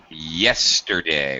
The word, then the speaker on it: yesterday: Yesterday. Watch your Y pronunciation.